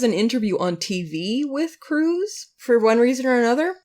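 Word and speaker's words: Crewes: Then there's an interview on TV with Cruz for one reason or another. And this is where I learned that his name is not spelled C-R-U-Z, like I thought it was. It's spelled C-R-E-W-E-S. Cruz.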